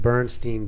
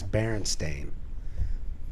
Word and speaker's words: Berenstain: the book correct and people would mispronounce it bernstein bears but then later in life they finally said look our name is berenstain but was the damage